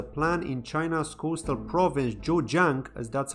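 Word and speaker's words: Zhejiang: that there's a plan in China's Coastal Province jojang as that's how it's pronounced to build a 20.7 billion dollar metaverse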